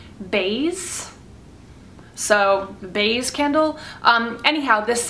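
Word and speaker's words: Baies: I've always thought it was pronounced Bais, but she pronounced it like Bays.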